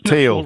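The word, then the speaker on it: Thiel: that long streaky Teal apparently. I mispronounced that. I've been corrected. I'm sure I got corrected when I said teal to steal. And now I've said teal and everyone's saying teal.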